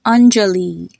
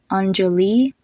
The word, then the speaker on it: Anjali: Another example is the name Anjali. Hear the Li at the end. Anjali.